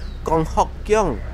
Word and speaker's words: Kong Hock Keong: It also has an official name pronounced in Penang Hokkien as Kong3 Hock1 Keong4, and that name comes with a double meaning.